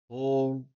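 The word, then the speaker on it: whorl: We have whole or whatever you want to call it. Some people don't pronounce the H.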